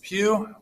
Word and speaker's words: Pugh: full name is pugh which rhymes with through students call me mr